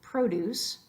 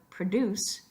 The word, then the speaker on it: produce: along the same lines we have produce as a noun but produce as a verb we have a present